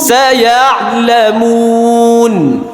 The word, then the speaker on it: سيعلمون: كلا سيعلمون সায়ালামুন। سيعلمون আইনের পরে যেটা থাকবে ওটা আইন শেষ হতে হতে ওটা উচ্চারণ চলে আসবে।